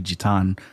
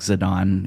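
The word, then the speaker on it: Zidane: um I mean I I've pronounced it as zadane all of my life um his his Japanese name is actually jitan but I I think zidon is kind of the englishization of that MH I um try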